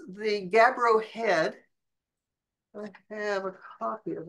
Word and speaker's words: Gabbro Head: It's the Gabbro Head.